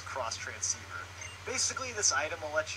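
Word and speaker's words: Xtransceiver: that's the cross transceiver a lot of people say it's ex transceiver but she actually says cross transceiver basically this item will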